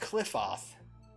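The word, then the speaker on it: Qliphoth: It's pronounced Cliffoth.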